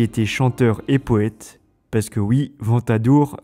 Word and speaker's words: Ventadour: One of the best known was Ebles II who was a singer and poet Because yes Ventadour rhymes with troubadour!